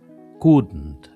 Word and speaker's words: couldn't: Couldn't es un poco más gutural la parte donde está la D y la N.